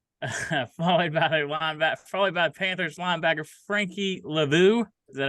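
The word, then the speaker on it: Luvu: Elite Joe Flacco, 26 points, followed by Panthers linebacker Frankie Lavu.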